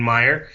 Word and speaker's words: Maier: You know, you've got both of those options, and I think Calgary's got a great option in Maier, which is how you actually pronounce his name, so I apologize for the Maier drop.